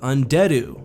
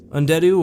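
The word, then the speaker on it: Andeddu: next up we have undead ooh and I say it like that because that's how the Plagueis audio book does undead Oh or and adieu as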